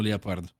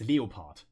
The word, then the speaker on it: Leopard: When I stream, I always call them Leopard. Leopard, yeah. I think just how is it in German? In German it's Leopard.